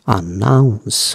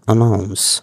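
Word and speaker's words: announce: অ্যানাউন্স, অ্যানাউন্সমেন্ট, আনাউন্স, উচ্চারণটা অ্যানাউন্স।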